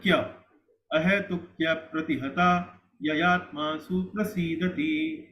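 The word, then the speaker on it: अहैतुक्यप्रतिहता: Actually, ahetukya pratihata. We don't need to speak a. Ahetukya apratihata will increase the number of matras.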